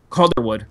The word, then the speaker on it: Calderwood: Calderwood.